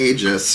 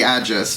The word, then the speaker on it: aegis: uh for zeus right zeus the aegis or the adjacent depending on your pronunciation so amulet away it's